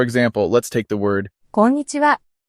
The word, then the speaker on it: こんにちは: For example, let's take the word こんにちは. When pronouncing this word in Japanese, you'll notice that the pitch remains relatively even throughout the word. There are no dramatic rises or falls in pitch.